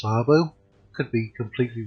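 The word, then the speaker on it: Åbo: Some people might call it Abo. I believe it's pronounced Arbo.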